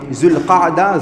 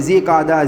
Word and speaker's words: ذو القعدہ: ذو القعدہ ذو الحجہ، دیکھیں اصل تلفظ اصل پروناؤنسیشن ان مہینوں کا یہ ہے، ذو القعدہ ذو الحجہ۔ ہمارے یہاں الگ الگ بولتے ہیں ذی قعدہ، ذی القعدہ، ذی الحج، تو اصل یہ ہے۔ اللہ کے نبی نے